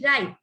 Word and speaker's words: write: जैसे कि right, WRITE, right, wrong, wretch.